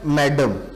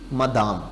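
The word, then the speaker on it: madame: असल में ये फ्रेंच वर्ड है और फ्रेंच वर्ड में इसकी जो सही प्रोनंसिएशन है या जो सही स्पेलिंग है वो है एम ए डी ए एम ई, मदाम। लेकिन जब इंग्लिश में आया स्पेलिंग भी चेंज हुए और स्पेलिंग चेंज होने के साथ प्रोनंसिएशन भी चेंज हुई। मदाम फ्रेंच में था, इंग्लिश में आके क्या बना, मैडम।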